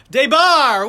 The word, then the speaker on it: Des Barres: Oh, well, my ex-husband, my wonderful ex-husband, Michael, always says it rhymes with gay bar.